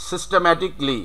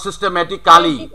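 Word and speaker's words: systematically: Next one সিস্টেম্যাটিকলি, নট সিস্টেম্যাটিক্যালি।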